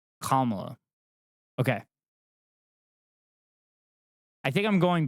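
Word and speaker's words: Kamala: pronounce her name correctly am I not saying commo you're saying kala okay I think I'm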